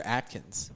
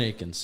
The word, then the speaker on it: Akins: Is it Akins or Atkins? I think it's. I mean, It's Jordan Akins. Yeah. Akins. Like you're a UCF guy, Julian. Is it Akins or Atkins? Akins. Yeah, you said it wrong the first time that